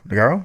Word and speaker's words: Notaro: Notaro? Is that how you pronounce it?